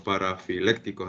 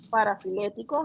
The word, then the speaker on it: parafiléticos: Bueno, sí, profe, más o menos entendí lo que explicó de los parafilécticos, así se pronuncia, ¿no? Parafiléticos, ajá.